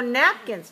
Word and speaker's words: napkins: liking okay how about napkins napkins so napkins napkins two syllables stressed on the first one so the K